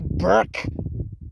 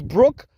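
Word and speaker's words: Bruk: he kept on calling her Brook BR Brooke Burke Jackson her name is Brooke Brook it's Brooke the BR UK is pronounced as Brooke she said it herself he kept on calling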